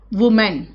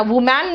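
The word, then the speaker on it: woman: मेन, मेन, मैन, वुमेन, है ना, वुमेन। लेकिन वहां पे मैन मत करना, वुमैन नहीं होता है ये, यहां पे मैन है लेकिन यहां पे वुमैन नहीं है, इट्स वुमेन।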